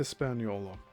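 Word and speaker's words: Hispaniola: So I'll just spell that out, too. H I S P A N I O L A. Hispanola.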